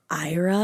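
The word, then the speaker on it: Éire: quaint, isolated part of, I think it's Ira is how you say it. It's E-I-R-E. Ira. You're supposed to say it with like an accent, but I'm not going to do that because it's not my accent.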